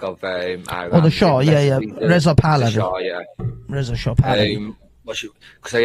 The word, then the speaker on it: Reza Pahlavi: Oh, the Shah, Reza Pahlavi.